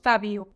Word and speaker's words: Fab!o: for all other cookies despite being spelled f a exclamation mark o the logo on the defant biscuits must be pronounced Fabo as a result the